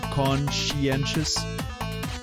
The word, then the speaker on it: conscientious: bit too o con more like Co right conscientious yeah yeah yeah yeah the rest of it